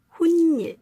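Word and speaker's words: 훗일: 후의 일, 나중의 일이라는 뜻으로 훈일 이렇게 발음을 한다고 이야기를 해주면 될 것 같습니다.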